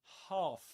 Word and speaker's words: half: Half with the same vowel sound as in um garden. Garden. Half. This long a sound.